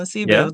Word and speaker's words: Lesibu: Lesibu.